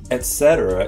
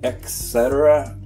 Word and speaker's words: etcetera: Etc. is the original expression from Latin. Etc. That's creative pronunciation. I'm not sure where that comes from.